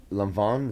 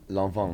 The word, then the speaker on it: Lanvin: But it's like lawn, and it's said like lawn. But it's said with like an accent, so kind of a long, yeah, and then like not like van, like Vaughn. Lanvin.